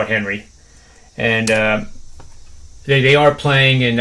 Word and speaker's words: Henri: The PGA Tour is playing their final round today because of the weather of, I can't even pronounce the hurricane right. It's Henri. I'm going to call it Henry.